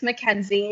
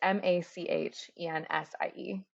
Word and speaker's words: Mackenzie: Mackenzie, which if you took German in high school, you'd think it's funny, but most people don't. But it's Machensie, which is not how my name is spelled.